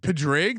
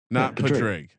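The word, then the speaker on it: Padraig: like a leprechaun capper is it padrick oh padre harrington no is it pedrig that's not how you say it that's exactly what happened podrick not patrick that sounds russian anyway i'm taking harrington he's 6700.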